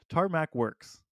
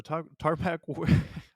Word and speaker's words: Tarmac Works: least is tarmac's works tarmacs I always say you know I need to learn how to say that tarmac works okay uh that's how you say it have to read it and even when I read it I say it wrong so tarpac okay I give up no